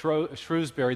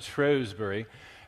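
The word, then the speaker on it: Shrewsbury: to lecture in uh what we we Americans would say sh Shrewsberry the British pronounce it shrewbury and it's the birthplace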